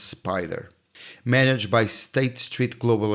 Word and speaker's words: SPDR: SPDR, which is pronounced Spider, managed by State Street Global Advisors, home of some of the oldest and most traded ETFs in the world.